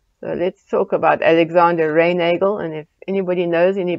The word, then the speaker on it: Reinagle: He was born in Austria, and so probably his name should be pronounced Reinachel. But because he lived in England, it may have become pronounced Reinagle.